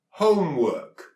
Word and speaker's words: homework: Our word is homework. Homework. So again, we've got O, The E here is silent because it's used to pronounce the O sound instead of the O sound.